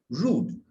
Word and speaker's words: rude: you d e don't you don't pronounce the e rude so a person is